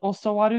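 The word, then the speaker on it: 教わる: Which is spelled, it's pronounced differently than oshieru, which is to teach. So in this case, rather being pronounced as oshieru, how is it pronounced? Osowaru. Perfect.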